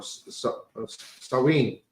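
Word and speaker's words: Samhain: to the ancient uh Celtic Festival of saen pronounced SN or sinen the the Kelts who lived 2,000 years ago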